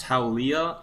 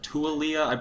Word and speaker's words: Taulia: This is really weird for me, but oh, and Adam, to your point, the quarterback's name is, I believe it's pronounced Taulia or Tualia.